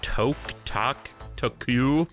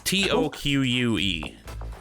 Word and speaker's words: toque: Do you know how to pronounce this word? Crimson Winter Toku? Taco? Are they wearing tacos on their head? It's Toque. Toque?